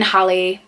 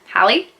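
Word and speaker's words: Halle: they're all like different but in my opinion Holly Hallie yeah Hallie that's how you say it is an amazing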